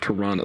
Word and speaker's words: Toronto: Toronto. They don't say this the second T for some reason.